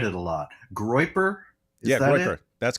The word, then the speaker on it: Groyper: Yeah, Groiper.